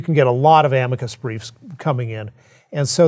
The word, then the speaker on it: amicus: them okay so um amicus is the latin word for i said amicus that's how it's pronounced okay i'm a coos so an amicus curiae